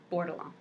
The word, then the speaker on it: Bordelon: She may say her name differently. That's how this little Cajun girl says that name. We say Bordelon.